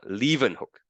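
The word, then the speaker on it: Leeuwenhoek: person right here okay uh leaving hook that's how you pronounce his name okay so he had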